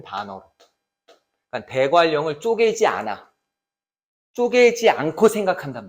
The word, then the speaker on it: 대관령: 니은과 리을이 만났잖아. 그러니까 그럼 이거 우리가 발음할 때 어떻게 해야 돼? 대관령 이렇게 소리가 나요. 즉 유음화가 일어난다는 얘기야. 이해가 가?